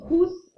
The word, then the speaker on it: trousse: And then trousse, like kind of like a truce after an argument or after a war.